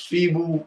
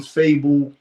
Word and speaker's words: Feeble: Yeah, it's feeble. They call him fable because people retarded, but it's feeble.